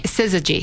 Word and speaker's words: Syzygy: So Cammie is the founder of, how do you pronounce it, Syzygy? Syzygy.